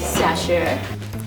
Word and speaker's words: Xiaxue: My name is Xiaxue. Can you guys try to pronounce it?